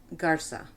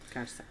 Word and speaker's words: Garza: Here it would be Garza. With a very sibilant. Oh, okay. Yeah, Garza. Garza, okay.